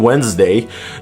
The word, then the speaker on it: Wednesday: Its appearance in Wednesday can only be seen as some kind of a cruel joke.